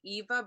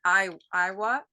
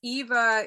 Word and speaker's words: 'Iwa: But I just wanted to say it's Sailing Eva, but it's spelled IWA. Yeah, that's right. A lot of people will read it Iowa, but it's Eva. It's the great frigate bird, and that's that name is Hawaiian.